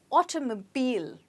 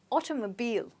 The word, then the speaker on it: automobile: as you can see the last sound in this word is a bit stretched and you must get that as well so it's automobile try it again automobile okay the automobile industry